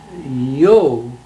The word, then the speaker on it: Jost: You never heard a Swede say or a German say Joe with a J. It's Yo.